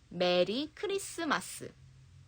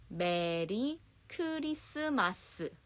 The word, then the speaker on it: 메리 크리스마스: You just say 메리 크리스마스. But remember, when you want to Koreanize English words, you articulate every syllable like this. 메리 크리스마스.